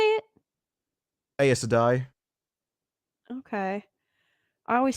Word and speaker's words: Aes Sedai: Like I say Aes, you say ice. So Ace and like Ice.